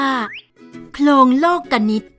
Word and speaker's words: โคลงโลกนิติ: ฟัง กัน เลย ค่ะ หลง โลกนิติ อ่าน ว่า ลง โลกนิติ หมาย ถึง ระเบียบ แบบ